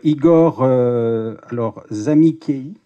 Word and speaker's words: Igor Zamikei: Tout de suite à ma droite, Igor Zamikei. J'espère que je l'ai bien prononcé. C'est comme ça que tu m'as dit de le dire, Igor. C'est d'origine italienne, m'a-t-il dit de préciser comme ça.